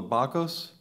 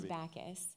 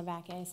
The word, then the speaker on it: Backus: morning okay uh angela bacos am i saying that correctly and no it's actually spelled incorrect i'm hooked on phonics i can i can say your name pronounce bacchus that goes okay thank